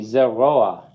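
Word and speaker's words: זרוע: Zeroa. Zeroa. The accent is on the chol and vav. Zeroa, because the patach under the ayin is a furtive patach.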